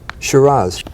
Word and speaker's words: Shiraz: Shiraz.